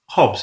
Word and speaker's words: Hobbes: going to be talking about social dynamics Thomas Hobs with social Contracting and Insanity yeah always a